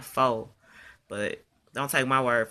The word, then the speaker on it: faux: FAUX is pronounced faux, not fox.